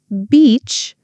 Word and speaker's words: beach: Beach with a B sound. Beach. Peach with a P sound. Peach. I love walking on the beach.